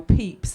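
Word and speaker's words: Pepys: that the restoration diarist samuel peeps that his name um isn't spelt how it's pronounced but i did not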